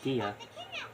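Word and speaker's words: Dehya: Even though she got they say her name like Dia, not DEA.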